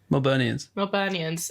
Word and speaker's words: Melburnians: How do you say it? Melbournians? Melburnians and Sydney people.